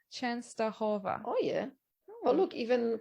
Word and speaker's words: Częstochowa: Oh, you say it Częstochowa. Częstochowa.